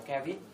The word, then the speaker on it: caveat: Đấy, chữ đầu đọc là caveat, đúng không?